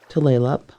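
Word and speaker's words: Tulalip: It is a name of a place of a bay and since 1855 the name of a reservation tleup. Tleup the name is mispronounced by so many people but tleup is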